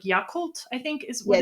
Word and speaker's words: Yakult: It's like Yakult, I think is what it's Yakult. Yeah, Yakult.